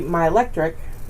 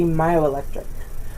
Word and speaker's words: myoelectric: a combining form so it wouldn't be my electric it'd be myoelectric so ich in this